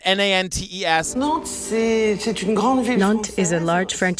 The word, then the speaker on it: Nantes: So we learn about this town, Nantes, I think is how they say it, Nantes.